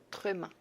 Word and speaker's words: tréma: Le tréma. Tréma. Así se dice diéresis en francés.